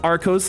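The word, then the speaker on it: Arceus: He always corrects himself to pronounce it Arcos, like, oh, I'm blinded by the lights, not, oh, okay. Oh, okay. I see what you're saying. I see, Arcus.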